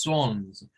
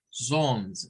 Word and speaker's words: Psalms: Y el libro de Salmos, aunque se escribe con una P, ¿verdad? No se pronuncia esa letra P. Es como psychology, como psicología, ¿verdad? Que lleva PS, pero la P no se pronuncia. Entonces solo decimos Psalms, Psalms. Recuérdense que esa AL suena una especie de O. ¿Verdad? Siempre que la A con la L está junta, suena más como una O con una L.